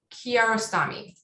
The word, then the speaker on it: Kiarostami: Abbas Kiarostami.